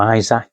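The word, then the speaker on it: Isak: Um, I don't want to get into the conversation about Alexander Isach um or Isaac as he's pronounced uh from Newcastle.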